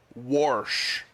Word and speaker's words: wash: Or if we're going to go down that path, and I live in this this part of the country where it is pronounced this way. Warsh. There's like a mysterious R in wash.